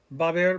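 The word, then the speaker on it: va a haber: Remember, it's va haber. 2 syllables, va haber. The a and ba, the a in the middle, the h is silent, the beginning of haber with the a, it all runs together.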